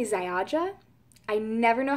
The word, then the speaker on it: Ziaja: It is, I want to say Ziaja. I never know how to pronounce it. It's Ziaja, and it's a European skincare brand.